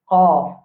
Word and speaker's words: ق: Vous avez beaucoup de difficultés pour qu'ils prononcent ça lettre là. Qaf.